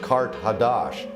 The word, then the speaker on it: Carthage: ancient capital of atlantis carthage in the ancient language is pronounced kart hadash and that means new city so it was a